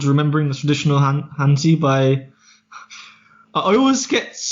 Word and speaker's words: Hanzi: I pronounce it like Honzi. I say like Cantonese Z, but it's spelled out Hanzi, so it's spelled out like Mandarin. Yeah, so it's spelled out Hanzi, but I pronounce the second bit with like the Z, like in Cantonese.